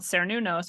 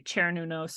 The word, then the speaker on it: Cernunnos: And I looked, and this is this entity called Cernunnos, or some people say Chernunos, or different ways of pronouncing him, but he's a sort of Celtic deity of the forest.